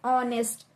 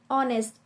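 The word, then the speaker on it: honest: यूज करते हैं और नेस्ट इसका सही प्रोनाउंस होता है ऑनेस्ट क्या होता है ऑनेस्ट इसके आगे हम क्या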